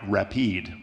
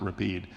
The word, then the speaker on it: Rapide: So Gravely went to a Swiss company called Rapide, which looks like rapid, but in Europe you pronounce it Rapide.